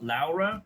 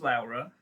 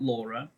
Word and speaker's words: Lara: So the basic story of the book is that there's two main characters uh Lara which is pronounced Lara not Laura it's pronounced Lara and Tuck and the C and they're sort of divided between centuries.